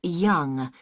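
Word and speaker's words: Yonge: have your name yes it's young j h young that's that's spelled y o n n g e that's young I see and your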